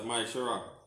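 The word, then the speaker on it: מעשר: Means tenth in Hebrew. And it pronounced as Maishara.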